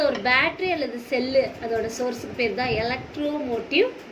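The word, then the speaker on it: ψ: இதை வந்து இட் is denoted by the simple சை. இதை வந்து எப்படி நம்ம ப்ரொனவுன்ஸ் பண்ணணும் அப்படின்னா சை.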